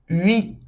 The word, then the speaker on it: huit: U, I, huit. O T é como se fosse um TS.